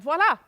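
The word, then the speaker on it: voilà: of the hat and voila here's the thing you have to pronounce the V because the word is not voila it's not a thing while that doesn't mean anything in French my husband doesn't speak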